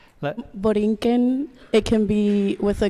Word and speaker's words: Borinquen: Borinquen, it can be with a K instead of the Q and the U. Yeah, Boriquen.